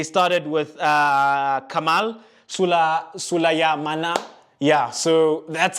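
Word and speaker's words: Sulemana: hand side they started with uh kamal sula sulaya mana yeah so that's how you pronounce it they've got very long names guys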